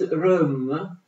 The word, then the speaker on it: Röhm: Erano comandate da un personaggio come Ernst, spero di averlo scritto bene, Röhm, questa E con i puntini di elisi si legge E, Ernst Röhm.